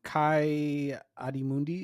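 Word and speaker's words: Ki-Adi-Mundi: Jedi when they're uh you see that um Kai adim Mundi is that how you say it yes kiot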